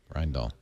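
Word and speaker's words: Rijndael: R I J N D A Lel Rend Doll. And I know how to pronounce it only because of one thing.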